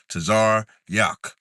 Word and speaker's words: Tazaryach: So it's two sounds. Tazar, Yak. That's how you say my name.